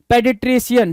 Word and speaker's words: paediatrician: पेडिट्रिशियन। क्या? पेडिट्रिशियन। क्या? पेडिट्रिशियन, पेडिट्रिशियन बोलते हैं सर।